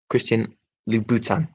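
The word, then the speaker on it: Christian Louboutin: lacquered souls christian and i've been given the penuch the pronunciation and lou bhutan christian lou bhutan thank you for providing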